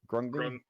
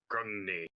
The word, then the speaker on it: Grungni: Is that how we pronounce it? Grungy? Grungni. Grungni. Okay, so Grungni, you smell like the sickening stench of recently burnt flesh and hair and beard.